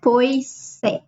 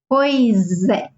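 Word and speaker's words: pois: how you say it it's not po even though there's an S here we say it together so it sounds like Z po okay and that means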